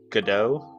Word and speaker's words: Godot: Or I guess it's pronounced Godot.